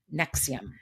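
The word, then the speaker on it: NXIVM: yeah, Nexium, but it's spelt like something weird, so let me just quickly see. It's like N-X-I-V as in Victor M, Nexium, but that's how you pronounce it, and yeah, Oh, so wow.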